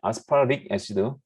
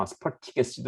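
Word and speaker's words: Aspartic acid: 것 같은데 아스파르릭 애시드, 영어식으로 발음할 때 아스파르릭 약간 발음을 굴리면은, 물론 영국식으로 발음하면 아스파르틱 애시드 뭐 이렇게 되겠지만 미국식 영어로 발음하면 이게 약간 아스파르릭 애시드 뭐 약간 이 발음이 무너지면서 D에 가까운 발음이 난다.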